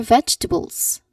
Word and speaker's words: vegetable: Eat more vegetables. Eat more vegetables. It's your turn. Excellent. All right. That's correct. Eat more vegetables. Remember the three syllables. This word has three syllables or three distinct sounds only.